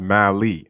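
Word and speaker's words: Mahle: he was good also it's pronounced mali okay mali okay tyler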